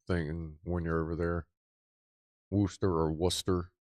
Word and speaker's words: Worcester: I've been Worcester. I've more like Worcester. See, Rob had said it was closer to Rooster. Maybe that's more of a thing when you're over there. Worcester or Worcester.